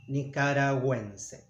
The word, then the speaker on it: nicaragüense: In this case, it sounds U, Nicaragüense. So this mark means that you pronounce the letter.